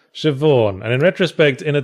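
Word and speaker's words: Siobhan: into a hotel room Co bond that how you pronounce that shevawn and in retrospect in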